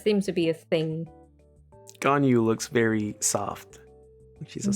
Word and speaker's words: Ganyu: Ganyu. Ganyu. And then Lisa. Yes. No problem pronouncing that one.